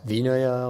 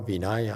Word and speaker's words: Vinaya: Sometimes pronounced Vinaya or Vinaya.